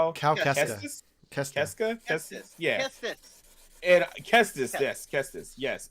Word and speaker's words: Kestis: Kestis.